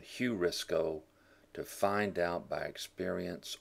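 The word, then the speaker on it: εὑρίσκω: Aorist passive subjunctive of eurisko. You may have heard the word eureka, I found it. Eurisko, heurisko, to be better pronounced with the heavy breathing here on the EU sound, heurisko, to find out by experience or thought.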